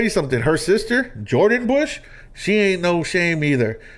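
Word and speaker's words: Busch: something her sister Jordan Bush she ain't no shame either go check out the bush sisters you see how it's spelled b-u-s-c-h check them out on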